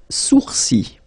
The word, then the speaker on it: sourcils: Les sourcils. Les sourcils. Okay, so it's quite strange because you get this LS at the end, but then, well, you don't pronounce them.